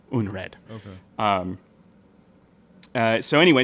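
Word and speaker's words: unræd: out of that um it's spelled u n r AE D uned okay um uh so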